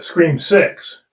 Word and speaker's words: Scream VI: We had this problem with the Scream 6, correct?